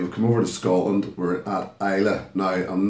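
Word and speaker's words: Islay: is a from isla you'll see it spelled it is spelled is la y and that is Isla it's not is lay it's not a may if you are talking to whisky people it is Isla and this is from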